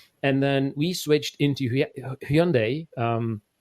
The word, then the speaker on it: Hyundai: And then we switched into Hyundai, pronounced as Sunday, Tucson.